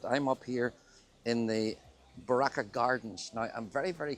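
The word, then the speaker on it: Barrakka: that's not we are that's not how it's pronounced so it's Baraka b a r r a k k a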